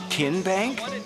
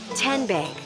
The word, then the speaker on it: TN Bank: Tin Bank. Uh-uh. So, what is it? Tenbank. 10 as in Tennessee. Right here where all